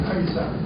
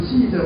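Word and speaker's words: Caesar: 아베 카리사 이게 아이 발음이 난다고요. 영어로는 시저 발음이 나죠.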